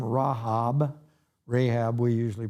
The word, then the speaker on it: Rahab: in the city of jericho famous name rahab rahab we usually pronounce it and what's fascinating is that this